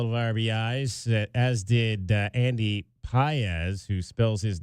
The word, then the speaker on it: Pages: had a couple of RB as did Andy pz who spells his name p a GES so it looks like pages but it's pronounced pz Will Smith The Fresh Prince of LA the